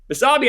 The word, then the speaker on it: Basabe: Basabe, I know is how you say his last name, right?